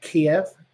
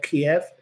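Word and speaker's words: Kyiv: He's an honorary citizen of Kiev, or Kiev, depending on whether your pronunciation is one way or the other. The Ukrainians prefer the former.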